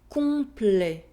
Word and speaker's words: Complet: Remember to nasalize the sound on and not to pronounce the N or M. Non. Non. Citron. Citron. Profond. Profond. Complet. Complet.